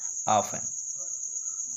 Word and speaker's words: often: ठीक है, ऑफन, ही ऑफन यूज to come to मी हो जाएगा। ठीक है, ऑफन माने अक्सर होता है या प्राय, OFTEN, ये टी साइलेंट होता है।